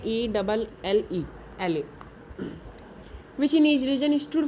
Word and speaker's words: elle: Spelling है ELLE, एले।